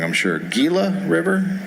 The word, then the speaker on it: Gila: I'm going to say it wrong I'm sure Gila River Gila all right nailing it and